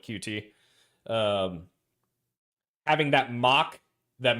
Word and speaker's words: Qt: or using QT uh I guess it's actually technically pronounced cute but I've always called it QT.